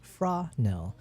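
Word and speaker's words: Fresnel: Frenel, pronounced Frael.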